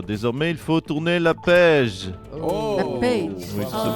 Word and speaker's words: Page: Désormais, il faut tourner la page. La page. Oui, ça se prononce Page, ça marche à moitié.